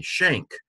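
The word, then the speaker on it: Schenck: The inherited pronunciation of S-C-H-E-N-C-K. And so my dad was Melvin, and But in recent days, I've started pronouncing it instead of the Dutch way. I've started pronouncing it more the German way, Schenk.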